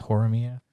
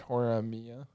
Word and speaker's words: Horimiya: But I could use its I guess it makes sense because it's Hori-san and Miura-kun, so it's Horimiya.